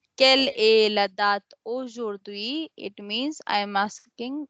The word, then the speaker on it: aujourd'hui: Okay, because AU letters make O sound. O. And then jour, in jour we have OU letters together. O, jour. And then we pronounce D with UI because H is at the beginning of the word HUI. So it will be silent. So that's why it is sound as aujourd'hui.